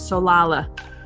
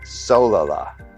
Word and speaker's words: Solala: It's Solala. No, Solala. Solala. Accent on the so.